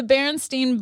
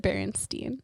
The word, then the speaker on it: Berenstain: next one is the berenstein bears or the berenstain bears which one is it b-e-r-e or b-e-r the baron stained bears but you pronounce it berenstein yeah i was messed